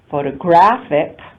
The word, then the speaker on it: photographic: All the other vowels are unstressed vowels, photography, and photographic, again, the only stressed vowel occurs in that next to the last syllable.